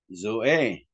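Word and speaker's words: ζωή: Zeta plus omega, zo. Zo e.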